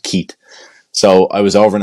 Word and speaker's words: Keith: because of our accents we don't pronounce the h at the end it's just Keat so I was over